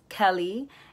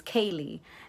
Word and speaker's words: Kaylee: It was pronounced as Kelly, and my name is Kaylee.